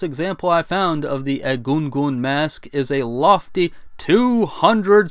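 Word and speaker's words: Egungun: be honest with you for years had been pronouncing that as a gun gun mask because well I am an American after all anyway the largest example I found of the edgungun Mask is a lofty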